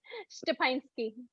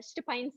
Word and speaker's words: Szczepanski: How do you But pronounce that? my last name's Szczepanski. How is it? Szczepanski. I know it has two Z's in there. Szczepanski.